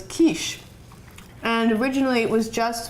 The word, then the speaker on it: quiche: And the Germans called it Kuchen. And the French, in the way they pronounced it, was quiche.